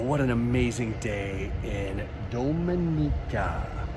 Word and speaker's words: Dominica: Well, what an amazing day in Dominica. We learned the proper pronunciation because apparently a lot of people pronounce it Dominica.